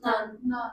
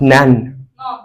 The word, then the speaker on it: non: None. Non. It's not nan. The word which has an E at the end is pronounced nan. This is non.